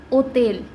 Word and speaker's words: hotel: तो अभी हमने पढ़ा है कि H हमेशा साइलेंट रहता है, तो H साइलेंट हो गया, H के साथ है हमारा O, तो O, फिर TEL, TE तो ते हो गया, ओतेल। ओतेल का मतलब होटल, तो इसको हम पढ़ेंगे ओतेल।